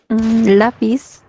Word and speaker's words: lápiz: ¿Cómo sé que lleva acento? Porque la fuerza de voz está en la penúltima sílaba y como termina en consonante Z, entonces yo le pongo el acento.